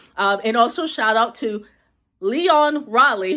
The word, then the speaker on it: Lyonne: And also shout out to Lyonne Raleigh, who I mispronounce her name every single time. I have to say Leon Kennedy from Resident Evil in my head to pronounce it right, because she put me